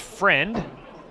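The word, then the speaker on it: Freund: ball game as mike friend comes up to hit the shortstop spelled f-r-e-u-n-d but i was told it's pronounced friend fouls off the first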